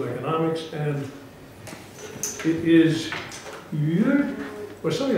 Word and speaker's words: Mir: the Higher School of Economics, and it is Mir, or something like that, the Mir Publishing Company. Yes. Tell me how it really is pronounced. Mir.